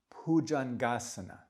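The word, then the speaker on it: Bhujaṅgāsana: Another B with that H. Bhujangasana.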